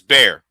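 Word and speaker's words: Bexar: I know Barrett I know people no bear in Texas spelled B X a R. That's bear. I just want people to know the X is silent.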